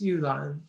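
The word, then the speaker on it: 玉兰: um a kind of Magnolia um which is pronounced Ulan in Chinese on the right is a crab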